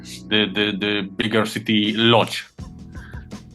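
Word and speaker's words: Łódź: And how is it pronounced? Lods.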